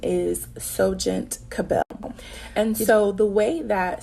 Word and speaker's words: SohGent CA’Belle: um and what it means so the correct pronunciation is soent cabel and so the way that soent cabel was